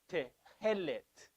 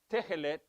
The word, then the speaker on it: Tehelet: the blue, is spelled, the pronunciation is tehelet. Not tehelet, nor tehelet. It's not tehelet. And so sometimes you'll hear people mispronouncing it, saying tehelet. Tehelet, because it's E-L-E-T. Tehelet. T-I-H-E-L-E-T. Tehelet. So when you have a double segol, the enunciation, the pronunciation, goes on the first syllable.